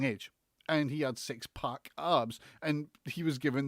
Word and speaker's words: PAC: to pronounce this correctly because it's pack but dave mulman you're wrong in this he has never been called poc it's always been called pac this is a rant